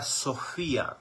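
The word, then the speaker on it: σοφία: Biblia del nuevo testamento dice que significa Sofía Esa es la pronunciación en griego y el significado es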